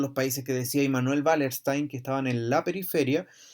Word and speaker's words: Wallerstein: Immanuel con dos M y Wallerstein, que se escribe con W, como es alemán se pronuncia Wallerstein y no Wallerstein, ¿ya?